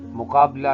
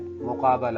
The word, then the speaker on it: مقابلہ: بھی ذرا واضح رہے، مقابلہ نہیں ہے، مقابلہ ہے، بے پہ زبر بھی ہے۔ اسی طرح مشاہدہ نہیں